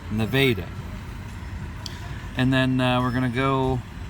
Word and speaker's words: Nevada: gonna come into Nevada a local correcting me on my pronunciation it's not Nevada even though that would be grammatically correct that's Nevada and then we're gonna